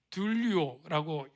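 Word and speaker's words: δουλεύω: 이 섬겨라고 하는 단어가 저기 헬라어로 둘리오라고 발음을 해요.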